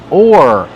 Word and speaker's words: oar: All right, so the first word, or. This is pronounced the same as this or that.